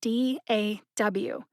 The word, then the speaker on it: DAW: That's spelled D-A-W, but it's pronounced DAW.